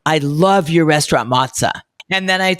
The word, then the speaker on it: Mozza: So it is mozza, short for mozzarella, but a lot of people will come up to me and say, I love your restaurant mozza.